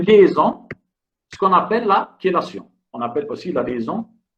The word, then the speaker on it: chélation: Ça s'écrit chélation, mais ça se prononce chélation.